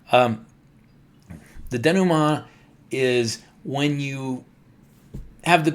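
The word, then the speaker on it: dénouement: But there's also the second part and that's the denum. I'm pronouncing it the fancy French way because I took French in college. Um the denuma is when you have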